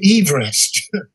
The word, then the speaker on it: Everest: it's george everest and geographer and he he pronounced his name everest and apparently he was very irritated when people